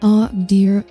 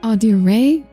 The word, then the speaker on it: Audire: It's pronounced Audire. Okay? Audire. That is how you pronounce it. I will also accept Audire. There is only one person who calls me that. Sometimes. I will accept it. And other pronunciations are wrong.